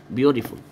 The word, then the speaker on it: beautiful: التي هنا تنطق زي الدال كده عشان بين حرفين متحركين، beauty زي الدال او راه كده، شوف بقى beauty، beautiful، beautiful، beautiful. ها دال سريع يعني beautiful.